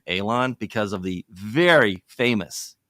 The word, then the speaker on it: Alon: name so the the the appropriate terminology of how to pronounce it is Alon it's an elated long a but hey I go